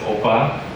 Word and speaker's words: OPA: You see this OPA is actually pronounced as OPA.